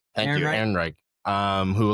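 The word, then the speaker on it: Ehrenreich: Aaron Rick. Thank you, Aaron Reich.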